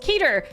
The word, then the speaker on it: Keter: Why would it be Keter? There's one E. Yeah, but Peter as well is one E, but you say Peter, you don't say Petter, do you?